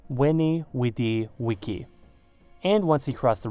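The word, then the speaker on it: veni, vidi, vici: IVLIVS CAESAR’s famous quotes was in fact pronounced “weni, widi, wiki”, and once he crossed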